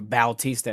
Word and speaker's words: Bautista: And what do you think about Corey Sandhagen and Mario Batista, or Bautista as they pronounce it sometimes?